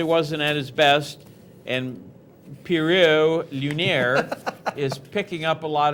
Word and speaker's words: Pierrot Lunaire: I'll pronounce his name Pierrot Lunaire.